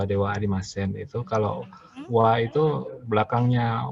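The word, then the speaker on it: では: Ini juga sama yang dewa arimasen. Ini kan kalau hiragana itu DH arimasen, tapi dia tidak dibaca DH arimasen. Itu dibacanya dewa arimasen.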